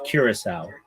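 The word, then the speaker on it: Curaçao: It's Curacao.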